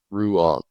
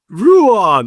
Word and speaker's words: Ruan: it's it's a it's a difficult name it's like the end of kangaroo and the end of the lawn ruan ruan all right so I